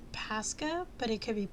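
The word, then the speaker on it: Pascha: want to say it's Pasa but it could be Pasha but um I want to say it's Pasa because it's p a s c h a um organic very dark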